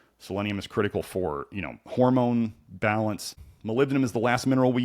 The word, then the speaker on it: molybdenum: Molybdenum is the last mineral we use of the big minerals.